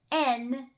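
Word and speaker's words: 円: n which is Yen they don't call it yen in Japanese there's no y I don't know why we add a y in English there's no Y in Japanese it's n so Sun man and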